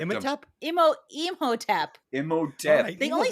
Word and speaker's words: Imhotep: call him Imatop? Yeah, he did. Imatop. And I was Imatep. busy hitting the pipe to correct him. Imatop. Imhotep.